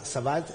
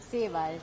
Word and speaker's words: Sebald: Así que es un gran gusto recibir a Sebald, ¿está bien? ¿Cuál es la pronunciación correcta del apellido? Sebald.